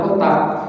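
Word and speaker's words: كُتَّاب: Al-kutab dengan dhammah kaf dan tasydid ta. Kutab gitu ya. Bukan kata, bukan kutab, tapi kutab, bacanya gitu. Maka pengejaan dengan bahasa Latinnya T-nya harus 2 karena ada tasydid. Ya, kutab gitu ya, T-nya 2.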